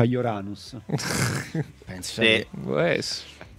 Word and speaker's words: Uranus: Marte Giuda morto dice che votano Urano perché in fa ridere agli americani che si pronuncia uranus penso Sì può essere